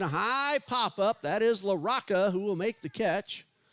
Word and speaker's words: Larocca: a 1-1 and a high pop-up that is laraca who will make the catch and there's one